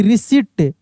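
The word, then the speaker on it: receipt: Deceive R ई सी ई आई पी टी रिसीप्ट। रिसीप्ट नहीं रिसीप्ट। यहां पे P silent है।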